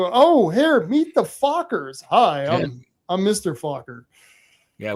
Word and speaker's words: FOCCR: we're known as the Fockers. So that's FOCCR. FOCCR, the Fockers. Yes. So, when people come to the headquarters, the people go, oh, here, meet the Fockers.